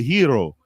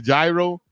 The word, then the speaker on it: gyro: We always mispronounce it. It's called the hero. We call it the gyro.